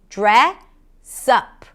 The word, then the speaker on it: dress up: Now, to pronounce this phrasal verb, you start with a DR, and then when you connect the DR, you hear a J sound.